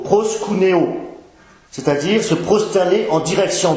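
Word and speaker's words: προσκυνέω: dans la langue grecque adorer signifie se prononce plutôt proscunéo c'est-à-dire se prosterner en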